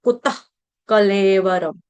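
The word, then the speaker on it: कुतः कलेवरम्: निरद कुत कलेवर वरम विसर्ग का उच्चारण आधे ख की तरह किया जाएगा। कुत्त कलेवरम ह की तरह नहीं होगा।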